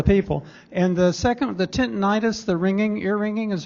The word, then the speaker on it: tinnitus: So tinnitus, and I emphasize tinnitus, US at the end, is the preferred pronunciation. Itis, I-T-I-S, is the common ending in medicine for an inflammation. This is not an inflammation.